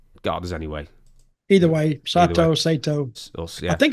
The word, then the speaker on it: Sato: Either way, Sato. Yeah. I think it's Sato. It probably is Sato because just how Japanese pronounce it. Because they flatten out their vowels.